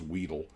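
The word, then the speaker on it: Wedell: way I learned it's not what else it's pronounced Weedle there's a museum in Louisiana to them where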